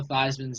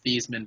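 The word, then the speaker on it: Theismann: world I'm just saying Joe thyman name was Joe theeman but they changed it to thyman so it would rhyme with Heisman and he didn't get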